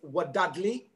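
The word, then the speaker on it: Wadadli: found at the local the local beer is wadadly and it is pronounced dad lee okay very good it's very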